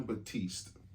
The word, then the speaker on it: Batiste: John Batiste.